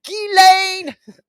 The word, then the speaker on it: Ghislaine: Her name is Ghislaine. I know, even not Ghislaine.